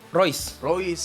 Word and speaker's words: Reus: Reus gimana sih pronounce-nya Reus? Royce.